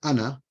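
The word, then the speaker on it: أنا: But the sukoon is this one here. So with the sukoon, you do pronounce the letter, but with the circle on top, like ana, you don't pronounce that letter. The alif on ana, you don't pronounce it.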